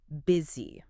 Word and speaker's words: busy: It has a U, but we don't say busy. Right. The U transforms into a short I sound. Busy. Busy? And again, the S acts like a Z.